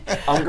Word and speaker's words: Unger: Unger rhymes with younger, remember that.